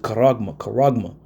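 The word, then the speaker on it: χάραγμα: Charagma. Charagma. We pronounce it karagma.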